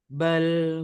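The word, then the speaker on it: بل: bapak-bapak sekalian bal nah bal itu lidah harus tetap ada di posisi atasul Kalau dibawahkan B jadi begitu akhirnya nanti mungkin kita sering menemukan cara baca yang mantul gitu ya memantul Nah itu cara baca yang salah karena lidahnya ketika mengucapkan lam sukun ini tidak diposisikan di atas ya nah eeah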